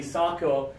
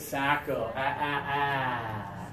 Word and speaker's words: Sacco: my last name is Sacco okay although the Italian pronunciation would be Sacco in the USA we pronounce it Sacco okay all right this